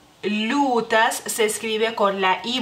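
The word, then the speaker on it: liūtas: en este caso no la y no se pronuncia la l se hace más suave lutas lutas y este supongo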